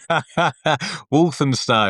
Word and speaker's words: Walthamstow: with locations in Eastbourne, Poole, and I cannot pronounce this. It's like Walthamstow. Walthamstow, yeah, Walthamstow.